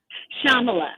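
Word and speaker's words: Shyamala: First of all, how do you pronounce your mom's name? Because I want to make sure I say it correctly. Shamala.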